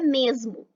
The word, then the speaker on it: mesmo: parte do território brasileiro, sempre que o E e o O estiverem no final da palavra e não tiverem nenhum acento gráfico, o E pode ser pronunciado como I e o O pode ser pronunciado como U. É o caso da palavra corpo e também da palavra mesmo, em que o O passa a ter som de U.